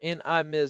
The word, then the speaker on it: NIM: When you combine that with their own software like NVIDIA Inference Microservices or NIM which rhymes with rims, you get what they call an AI factory.